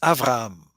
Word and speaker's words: Avram: In Hebrew, we pronounce Avram. Avram. You don't have the right to say Ab in Hebrew, and I can explain why. It's because A is a vowel sound, and B is a consonant sound, and when a